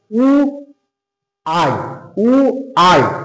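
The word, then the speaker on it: why: দেখো ওয়াই এর উচ্চারণ দেখো উ আই উ আই, এরকম উচ্চারণ হচ্ছে ডাব্লিউ ওয়াই এর উচ্চারণটা।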